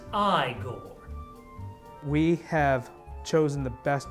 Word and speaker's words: Igor: plays frankenstein scott plays igor scott seifert it's pronounced i gore we have chosen the best possible monster he